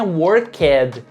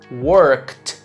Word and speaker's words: worked: na minha pronúncia mas a letra e dali do Ed que a gente adiciona no final dos verbos regulares no passado o e na verdade geralmente a gente não pronuncia ou seja ali o passado de não é stayed e sim stayed o passado de work não é worked diga worked e sobre essas regrinhas